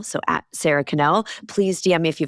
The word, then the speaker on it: Sara Connel: So, sarah canel.